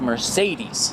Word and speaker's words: Marcedes: And Sean said, it's Mercedes.